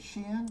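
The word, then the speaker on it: Shein: only teu but there's Shen there's all of these Chinese popups that are unfortunately doing what Etsy does was but cheaper is that how you say it sheen sheen yes ah okay yeah the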